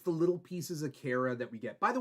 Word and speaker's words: Kara: then like somebody else was like, it's actually Kara, and I took that to heart. I also feel like I'll flip between pronunciations just on what my brain decides to say.